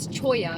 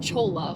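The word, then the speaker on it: cholla: ام، جب چولا cactus garden کی بات آتی ہے تو میں خود کو لات مار رہا ہوں، جس کا تلفظ چویا ہے، چولا نہیں، جو مجھے لگتا ہے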